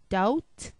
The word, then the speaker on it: doubt: Tom com limb tomb B is also silent when it precedes t as in doubt debt doubt Deb B